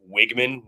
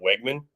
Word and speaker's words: Wegman: years old when I realized it's wigman not Wegman yeah dude I've heard I I thought it was always Conor Wegman that's so it's wigman like wig i g m a like it's wig but the way it's spelled you would think W and also here's